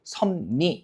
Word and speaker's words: 섭리: 그래서 섭리 같은 경우에 최종 발음이 어떻게 되는 겁니까? 섭리 이렇게 되는 거죠. 그죠? 뒤쪽에 리을이 니은으로 발음되고 그 다음에 니은 때문에 앞에 있는 비읍이 뭐로 발음돼요? 미음으로 발음되죠.